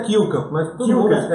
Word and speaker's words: Kulkamp: Eu estou aqui do lado com meu amigo Guilherme Kukan. Falei certo o sobrenome? Certo, certo. A Guilherme pronúncia é Kilkamp, mas todo mundo. Kukan. É, Então Kilkamp.